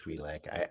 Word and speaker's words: Twi'lek: Twi'lek, I is always- that how you pronounce it? I thought it was. I always Yeah, thought it was Twilight. It's Okay. Twi'lek. I was frustrated to learn that too.